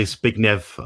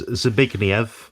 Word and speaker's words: Zbigniew: I know Zbigniew. I've known him for a year now. So it's Zbigniew Warzenek. You won't get it first time, but he's a great guy.